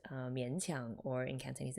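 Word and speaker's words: 勉强: So these two characters here in Japanese reads as benkyo, to study, but in Chinese those exact same two characters are pronounced mianqiang, or in Cantonese it's minkang, which actually means to be forced to do something unpleasant.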